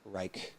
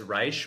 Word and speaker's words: Reich: I hope I'm pronouncing Reich that's fine. correctly. Yeah. Okay. Okay. That's fine. Is there another pronunciation? My family usually says Reich, but yours is actually the more correct pronunciation.